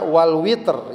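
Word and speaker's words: وَالْوَتْرِ: Kemudian Allah bersumpah lagi wasyafa'i wal watr, ya. Kadang juga ada yang dibaca wal witr, yang biasa mungkin akrab kita witir, ya, tapi di sini bacanya al watr.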